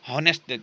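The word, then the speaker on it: honest: हो रहा है लेकिन इसकी एच क्या है, साइलेंट है, ठीक है। हॉनेस्ट किस तरह के प्रोनाउंसिएशन यहां पे शो कर रहा है, तो इससे आपने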